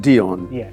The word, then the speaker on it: Dion: day and your name is again Dion It's pronounced Dion d i o n but it's pronounced Dion not Dion Dion yes Dion very good so